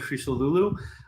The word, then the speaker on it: Christodoulou: My name's Christodoulou. like in. That's but yeah, I'm Greek. Yeah. Yeah. It's like a TH or a D sound in the Greek language.